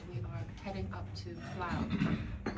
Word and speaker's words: Flåm: This is our first morning waking up in Flåm. I pronounced it wrong earlier. It's spelled f l a m, but it's pronounced the a like an o.